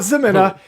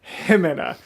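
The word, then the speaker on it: Ximena: Himena. Why am I incapable of pronouncing animators' names correctly? Not Zemina, Himena.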